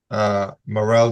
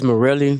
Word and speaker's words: Morel: Is your name Morel? I pronounce it as Morelli, but yes, sir.